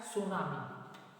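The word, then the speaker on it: tsunami: छोड़ जाती है, इसमें टी साइलेंट है, इसलिए हम लोग इसको सुनामी पढ़ते हैं, ठीक है।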